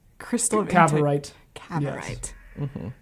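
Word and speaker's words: Cavorite: Yeah, and so they're trying to get the Cabaret crystal. Is that how it's said? Crystal of Cabarite. Cabarite.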